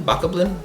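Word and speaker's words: Bokoblin: GameStop it's the the Baka blin B Baka blin Baka blin that's how you say it uh amiibo for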